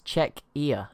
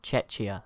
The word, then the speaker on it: Czechia: Wait, it's Czechia, not Czechia, as I was saying. So apologies there. So it's Czechia, I think.